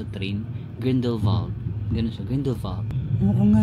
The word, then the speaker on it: Grindelwald: Grindelwald, pero nung pronounce sa train, Grindelwald, ganun siya, Grindelwald.